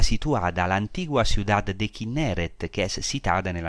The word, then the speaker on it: Kinneret: Ahora quiero decir que el nombre Kinneret fue bastante deformado en la pronunciación griega y aparece en el primer libro de los Macabeos y también en el gran historiador del tiempo de Jesús, que es Flavio Josefo. Kinneret se decía Gennesar.